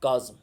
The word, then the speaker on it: chasm: Cited a deep dark काज़म। Remember boys and girls, I said CHASM। whenever you pronounce the word it is considered to be chasm, yeah, right, you understand, इसको K के साथ पढ़ना है।